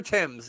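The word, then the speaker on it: Thames: that flows through London it's pronounced TS the river Tims yes I heard that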